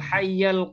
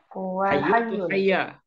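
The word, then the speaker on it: حَيَّ: Hayyul. Hayya. Hayyul. Nah, kalau kita konsisten dengan kalimat sebelumnya, ini bacanya yang benar adalah hayya. Ya, al-hayya al-qayyuma. Kenapa hayya bukan hayyu? Azima.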